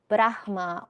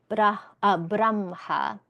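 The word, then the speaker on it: ब्रह्म: So it could be brahma or it could be braha and both of those both of those pronunciations.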